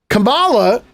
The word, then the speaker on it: Kamala: bent out of shape people uh Master uh mispronouncing kamala's name so now I don't care anymore Kamala this is why this is this is the